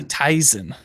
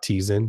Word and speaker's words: Tizen: me with Steve says can you say Tyson Tyson Tyson Tyson that's how I pronounce it's definitely not Tizen do not say it anyone its Tizen has